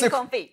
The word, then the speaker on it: confit: So what's confit. It's pronounced confit, which is basically it's cooked in duck fat, right?